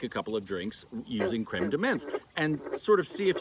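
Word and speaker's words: crème de menthe: are specifically made with creme de menthe creme de menthe creme de menthe i never know how to say it it's not creamed mint but it's basically this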